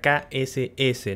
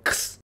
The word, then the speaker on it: KSS: Sí, se pronuncia KSS, no X.